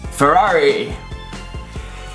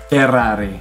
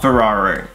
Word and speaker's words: Ferrari: There's a double R in there. And you have to roll your R even more. Ferrari. Not Ferrari.